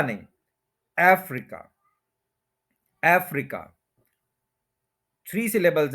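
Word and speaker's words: Africa: एज एज एज एज उसके बाद हम कहते हैं अफ्रीका इसमें थोड़ा सा आप देखले कि थ्री सिलेबल है एफ री और खा तो फर्स्ट के ऊपर स्ट्रेस है अफ्रीका अफ्रीका अफ्रीका नहीं अफ्रीका अफ्रीका थ्री सिलेबल्स है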